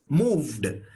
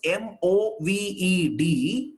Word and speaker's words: moved: So when you pronounce M-O-V-E-D, it is moved. Moved. The V is also pronounced.